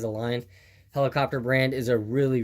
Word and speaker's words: Align: If you're extremely experienced in RC helicopters, I think the T-Rex brand, Alien, or Align, that's how you say it, is Align, helicopter brand is a really, really good high-end helicopter brand.